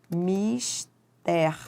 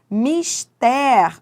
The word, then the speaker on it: mister: Atenção à pronúncia correta da palavra mister. Mister, ó, sublim para você saber qual é a sílaba tônica. É essa, é a última. Ela é uma oxítona.